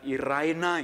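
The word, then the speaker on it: εἰρήνη: kantor damai sejahtera itu dalam bahasa yunaninya ditulis er Emil bacanya Ira inai hai saudaraku di dalam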